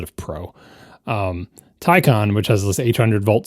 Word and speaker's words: Taycan: They have 2 syllables in their word, and neither one of them is pronounced the way that an English speaker would expect them to say. But Porsche has a YouTube video that says tie like a necktie, and then con like the opposite of pro.